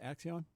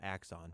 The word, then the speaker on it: Axon: Tell us a little bit about is pronounced Axion. Uh so the company is called Axon.